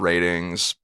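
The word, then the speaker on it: RTINGS: looking for new tech it's called ratings but it's spelled r t i n g s dot com that's ratings i call it and it's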